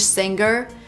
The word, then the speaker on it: singer: we don't say singer the G is not pronounced with a hard G sound singer is not correct we say singer make a nasal sound with the NG M singer and then link to the r sound singer singer she's a